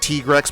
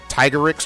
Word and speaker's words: Tigrex: Like how people have been naming, like in Monster Hunter, people have been calling the Tigrex, like Tigrex, but it's called the Tigerix or something like that.